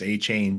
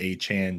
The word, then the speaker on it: Achane: I'll tell you what, it sounded a lot better when it was Achane train before he corrected everyone and made it Achane train. Yeah, now we got to rhyme with like what 4chan.